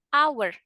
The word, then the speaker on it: hour: Meskipun hour alias huruf H itu kan huruf konsonan. Tapi kan kita baca katanya kan vokal. Hour, hour. Maka kita pakainya an. An hour. An hour. Jadi bukan a hour, tapi an hour. Karena bacanya hanya nggak dibaca.